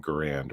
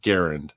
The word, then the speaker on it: Garand: back then that was an M1 grand or Garand if you pronounce it correctly but yeah that was